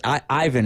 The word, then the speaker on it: Ivan: Or actually, Ivan is how it's said in the movie.